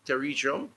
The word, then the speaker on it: pterygium: Of the schedule, 2,936 cases for operation, a total of 1,847 were completed, 1,192 cataract, 655 pterygium, yeah, let me pronounce that properly, pterygium, 655, and some 773 cases have been rescheduled during the period.